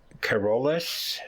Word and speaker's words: Charollais: one on my list and I'm probably gonna mispronounce this Corollas c-h-a-r-o-l-l-a-i-s um this is um the origin of